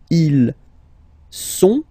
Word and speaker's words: ils sont: Okay, ils sont, final T not pronounced. Ils sont.